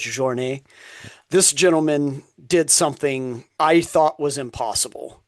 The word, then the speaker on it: Jornet: For those of you that don't know, it's Kilian, and the last name is Jornet, but I'm going to say it like it should be said because he's Swiss or French, I believe, so it's Jornet.